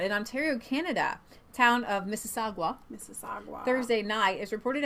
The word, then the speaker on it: Mississauga: assists mississagua I bet mississagua that design well that was good I was pronouncing like the Mississippi and then I was mississagua restaurant that wounded over